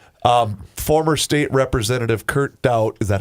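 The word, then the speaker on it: Kurt Daudt: Um, former state representative Kurt Dout, is that how you pronounce it? Kurt Dout.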